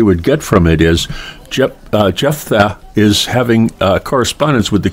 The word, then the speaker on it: Jephthah: Jephtha.